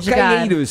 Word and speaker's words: Calheiros: sabe pronunciar direito Calheiros Fala aí Calheiros tipo Ciro português e Portugal cir obgada tá bom